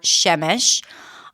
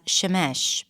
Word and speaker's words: Shemesh: I'm Shemesh, often pronounced as Sheamesh by native speakers.